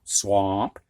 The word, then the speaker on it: swamp: And then in lesson 98, A in the combination of SWA is going to sound like aw, ah rather, ah, like the doctor puts, this wooden thing in your mouth and tells you to say ah, ah, aw. It's not much different. I've heard people say swamp with the aw, swamp.